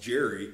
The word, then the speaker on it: Gerry: So then why is the name Jerry also spelled Gerry and pronounced Jerry, and it's a G? Because it's an E after the G.